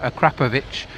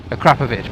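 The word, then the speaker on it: Akrapovič: know and a Claire a crap of itch Akrapovic no one can say it properly I think it is actually a crap of itch but that just doesn't sound as good to me yeah you can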